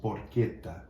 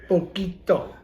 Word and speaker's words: porchetta: Did you know he's Properly pronounced porchetta. Poquito.